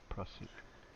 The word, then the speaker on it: Prussic: Is it pronounced Prusic or Prussic? Prussic. Prussic.